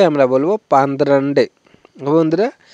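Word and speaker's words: പന്ത്രണ്ട്: next দেখব 12 তো 12 কে আমরা বলব পান্দ্রান্ডে ওকে বন্ধুরা তো আমরা বেশিরভাগই কিন্তু বলে থাকি পাদের আন্ডে তো পাদের আন্ডে উচ্চারণটা কিন্তু সঠিক না তো পাদের আন্ডারে উচ্চারণটা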